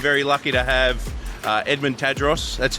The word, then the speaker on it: Tadros: Today we're very lucky to have Edmund Tadros. That's how you pronounce it, right?